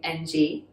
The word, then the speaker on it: Ng: to pronounce that well in cantonese it's the low-rising that unvoiced kind of nasally okay so is the surname ng and it has a